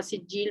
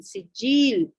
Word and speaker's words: سجیل: پہلے سنگیل بنا ہوگا سجیل بن گیا، پھر گاف تو خیر عربی میں ہوتا ہی نہیں ہے، اس وجہ سے یہ لفظ سجیل کا تلفظ اختیار کر گیا۔ اس کے معنی کیا